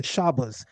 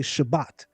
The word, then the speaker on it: Shabbat: In southeastern Europe what we pronounce as T they pronounce as S. So they would greet you and they would say shabas. whereas we would say Shabbat.